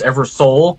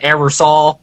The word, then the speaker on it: Eversole: Everybody says my last name wrong because it's pronounced Eversole, but I live in Indiana, so everybody's like Eversole, all that stuff.